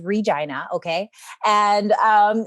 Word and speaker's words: Regina: from regina saskatchewan canada yes i said it right it is regina okay and um it's